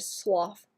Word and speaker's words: slough: That's my new favorite word, slough, because you're actually supposed to pronounce it with the F noise, so it doesn't sound like I'm not able to speak properly like usual.